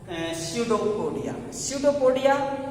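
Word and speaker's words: pseudopodia: तो digestion process out finger like projection called स्यूडोपोडिया। स्यूडोपोडिया एक कह सकते हो, स्यूडोपोडिया कहने का मतलब इसे, ये भी यहाँ पर साइलेंट होता है, ये वर्ग है, इसलिए इसे हम पी साइलेंट से बोलते हैं।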